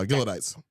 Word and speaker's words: Gileadites: John Brown had formed the league of uh Gillodites. Okay, thank you. Yeah, because I wasn't sure how to pronounce it. I have that one actually. Gileadites or Galot. Yes, Gileadites.